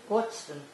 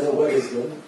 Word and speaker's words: Waddesdon: Waddesdon. D'accord. Moi, je me trompais complètement. Je prononce à la française Waddesdon.